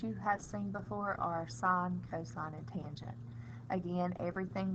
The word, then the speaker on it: sine: of all the word sine is spelled s-i-n-e the abbreviation though on a calculator is s i n please do not pronounce it sin it is sum sine